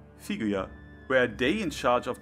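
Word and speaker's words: フィギュア: In Romaji it's Figarando, which sounds very similar to how you pronounce figure in Japanese. Figuya.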